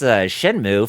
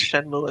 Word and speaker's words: Shenmue: I remember growing up, people would mispronounce Shenmue as Shenmue or Shenmue. Shenmue. Because in Chinese, Shenmue, but you know when they Romanized it from the Japanese kanji of the Chinese, they added an E at the end.